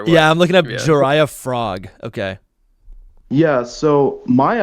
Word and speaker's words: Jiraiya: Whoa, how do you spell that? Jiraiya? It's Jirya, Jiraiya, like legendary ninja. Oh, Jiraiya.